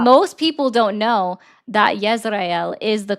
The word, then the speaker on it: Israel: Just like That's not most people don't know that Yisrael is the correct pronunciation of Israel.